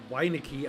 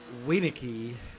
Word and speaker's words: Winicki: owner of the league Cody winicki I always pronounce it wrong it is wayniki he is actually running